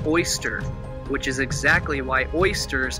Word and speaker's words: Ēostre: indo-european language speaking peoples we can phonetically pronounce the name as oyster which is exactly why